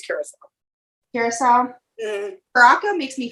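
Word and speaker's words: Curaçao: Is it actually pronounced curacao or is it pronounced? Yeah, I've heard curacao, I've heard Caraca, but I think it's curacao.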